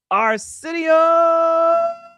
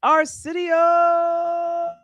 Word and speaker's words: Arsenio: Now, another person that's releasing a memoir is, if we could say it correctly, it is Arsenio.